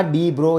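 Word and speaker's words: de Broglie: जरा ध्यान देना, डी ब्रो ये सही प्रोनाउंसिएशन है, और वो एक नील बोर साइंटिस्ट के वो क्या थे?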